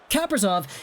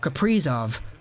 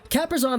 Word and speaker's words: Kaprizov: I kind of pronounced Kaprizov's name like, you know the juice Capri Sun? Yeah, I was saying his name like Kaprizov. But obviously we'll change that up now. Kaprizov is a guy who,